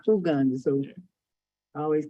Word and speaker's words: Uganda: And Americans always say Uganda, but they say Uganda. So I always correct people and they say, what do you mean? Uhuru. I thought it was Uhuru. No, it's ooh. All the U's are pronounced like ooh.